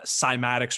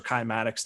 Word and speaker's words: cymatics: that stuff like uh cymatics or kymatics depending on how you uh pronounce it kind of the